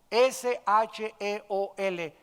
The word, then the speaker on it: Sheol: descendían a un lugar que en el hebreo se escribe Sheol, S-H-E-O-L, Sheol.